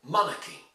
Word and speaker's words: monarchy: In monarchy you need to stress on the first syllable, monarchy. And once you do that, well then, you hardly hear the R. For instance, it's not monarchy, no, it's monarchy. Meaning that you don't hear the R sound at all, in a way.